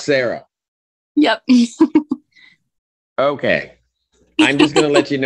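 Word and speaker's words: Sarai: So is it S-A-R-A-I? Yep. But it's pronounced Sarah.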